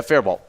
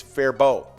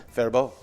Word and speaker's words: Faribault: name there it's one of our hardest to pronounce minnesota town name yeah fairball yeah that's what we've been saying it yeah